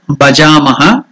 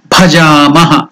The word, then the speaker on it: భజామః: last word is భజామః భజామః ఇట్స్ నాట్ భజామః మహాప్రాణ ఇట్ use more lung energy that's why it's called మహాప్రాణ more energy so భజామః ఇట్ ఇస్ నాట్ భజామః ఇట్ ఇస్ భజామః జ is also elongated దీర్ఘ భజామః thank you now will do